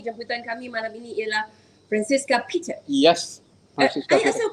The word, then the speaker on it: Francissca: Dekat negara Itali, memang kalau ejaan itu, jika anda berada di Itali, memang disebut Francesca. Tetapi friend bukanlah orang Itali. Right. Jadi kita sebut Francissca.